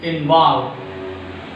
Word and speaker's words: involve: So second syllable is a stressed syllable. Begin. Begin. Begin. Next one. Involve.